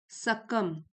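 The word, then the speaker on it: succumb: Often सकम सकम B silent है।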